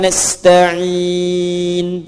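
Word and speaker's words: نستعين: Jika berhenti, sukunlah: iyaka na'budu wa iyyaka nasta'in. Sukun huruf 'n'.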